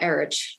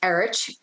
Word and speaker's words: Erich: night portion were Eric, which is Eric, but spelled with an H at the end. Well, I only call him Erich because Erich.